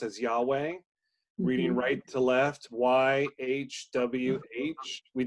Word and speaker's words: Yahweh: left is the name of God which we pronounce as Yahweh reading right-to-left why HWH we did the H